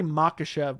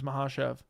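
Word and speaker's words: Makhachev: He calls Mahashev I used to say Makashev but then someone told me it was Mahashev as Mashev like an L.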